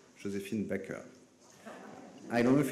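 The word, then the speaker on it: Joséphine Baker: Since a couple of days, French journalists pretend she wanted her name to be pronounced the French way, Josephine Baker.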